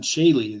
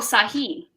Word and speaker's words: Sahi: The way I looked at it, looked like Saylee to me. So that's the way we're pronouncing it going forward. But anyway. No worries. That's Sahi. It means true in Arabic.